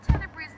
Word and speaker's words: Tenebrae: While Tenebrae's name comes from the Latin word for darkness, Tenebris, I decided to pronounce it as Tenebrae to make it sound a bit more fancy.